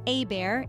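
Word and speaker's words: Hébert: number seven we find Ebert this name pronounced AAR in cjun French comes from the Germanic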